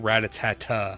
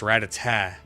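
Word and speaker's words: Rattata: I said it and he goes, "Why are you adding the another syllable?" And I was like, "What do you mean?" He's like, "You're saying ratata." I'm like, "Yeah." He says, "No, it's ratata." Like, "It's not rata."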